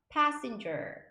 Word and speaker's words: passenger: 하지만 PA는 pa라고 발음하시면 되고 SSEN 이렇게 S가 두 개 붙거나 자음이 두 개 연달아 나오면 한 번만 발음해 주시면 돼요. sin 이렇게 발음하시면 되고 GER 하면 ger 해서 passenger, passenger 이렇게 발음하십니다.